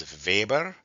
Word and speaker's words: Weber: And the Germans pronounced their W's as V. So my professor would say this is Vber.